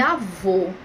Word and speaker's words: avô: é diferente o acento então o primeiro eu tenho acento agudo e na segunda tem um acento circunflexo então vai ficar avó e avô perceberam ou seja no acento agudo é um som aberto avó e já